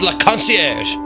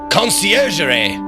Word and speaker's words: Conciergerie: We're going to find our kitty client at La Concierge. Wait, no. Conciergerie. Conciergerie. Concierge. There's another syllable that I wasn't doing.